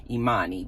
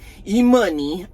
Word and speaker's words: Imani: that Imani y'all know her name is actually Imani but nobody seems to say her name correctly e-money um did so apparently